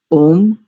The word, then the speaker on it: ओम: ओम पद का कम से कम प्लुत में उच्चारण होना चाहिए।